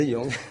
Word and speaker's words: Zhejiang: Vous venez de Wenzhou, c'est dans la province de Zhejiang, je prononce correctement. C'est ça, Zhejiang.